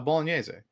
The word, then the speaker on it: bolognese: like say that again it's a bolognese that's how you pronounce that word oh you didn't know